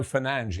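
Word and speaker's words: Fernandes: Bruno Fernanch in his own neighborhood. But he was here long before correct pronunciation became such an issue.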